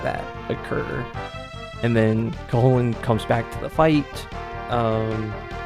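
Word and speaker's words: Cú Chulainn: know the name of, Cuchulainn. Yes, that is more often pronounced Hullen. Not Chulainn, like a lot of us often want to read.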